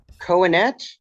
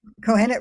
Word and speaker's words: Kohenet: excited to welcome dwar grin to the show cohenet did I pronounce those things correctly cohenet ruach yes okay for a grand PhD she's